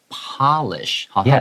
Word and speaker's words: Polish: 这个 Polish 就是指这个波兰的，他是一个波兰的医生 in the late 1800s，好，是在19世纪末的时候创立出来的一个语言。这个地方特别注意一下 Polish 这个字，如果它 P 是大写，它指的是国家的话，我们会念成 Polish。但如果说今天 you want to make something shine，you have to say polish。好，它 P 的话如果是小写，当动词的时候是把什么东西擦亮，polish your shoes or polish anything。Yeah，英文很容易，很简单好可怕哦，真的好可怕哦，天哪 Here, L.L.